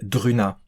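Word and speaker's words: Druuna: m'a vraiment satisfait pour l'époque bien entendu c'était druna ça s'écrit Dr u u na a dans les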